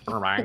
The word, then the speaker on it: Burbank: Burbank.